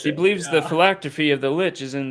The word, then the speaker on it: phylactery: Yeah, phylactery. Phylactery. Thank you. Yeah, I've heard of that. Yes, he shit, believes the yeah. phylactery of the Lich is in this Doom Vault,